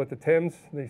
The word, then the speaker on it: Thames: They're all on the Thames River. By the way, it's not the Thames. Those British people talk funny and they call it the Thames.